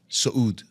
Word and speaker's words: Soudi: And my surname is Soudi. Saud. Saud. It's like going up, right? Saud, okay. Saud. But not spelled the same as Saudi Arabia.